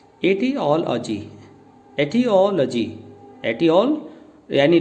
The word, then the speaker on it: etiology: E space TI space और फिर OLOGY, तो इसकी प्रोनाउंसिएशन बनी एटियोलॉजी, एटियोलॉजी, एटियोल यानी ले आपका ओ के साथ फिनिश हो जाना है, एटियोलॉजी, एटियोलॉजी।